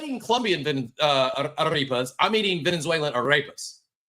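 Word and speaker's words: arepa: And it was pronounced Aarea in Venezuela. So, I can't roll my Rs. I am born and raised in America. I lost the ability to roll my Rs. But they pronounced it aripa.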